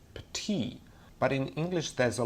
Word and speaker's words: petit: For example, the word petit would be pronounced as petit.